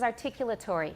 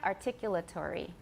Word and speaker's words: articulatory: articulatory we say articulatory so how many syllables do i have articulatory i have six and how many does my british teacher have articulatory he has five the last one is sort of a semi syllable articu articulatory tree it's not really tree it's tere there's a very short schwa it's hard to count